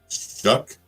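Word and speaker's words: Shough: Shuck. That's how you say it. Easy. Shuck. Okay. Shuck. That's how I heard someone pronounce it today. Shuck. Like you're shucking the corn.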